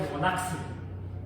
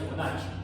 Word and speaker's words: Fibonacci: Fibonacci es doble C, así se pronuncia la doble C en italiano. En español sería Fibonacci, en italiano es Fibonacci.